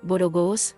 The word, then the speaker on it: borogos: Asimismo, la primera O de borogos se pronuncia como la O de loro.